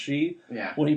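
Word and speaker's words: sidhe: fairies in this book, it's pronounced she.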